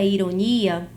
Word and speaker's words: ironia: palavra ironia na palavra ironia nós teremos E se eu tenho Ironi Ah eu sei que aqui eu vou ter como sílaba tônica a sílaba ni ironia eu tenho uma